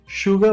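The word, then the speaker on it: sugar: दिखाई like for example अगर आप शुगर वर्ड की बात करो इट स्टार्टस विद एस लेकिन प्रोनंसिएशन में हम इसे श से शुरू करते हैं वैसे अगर श होता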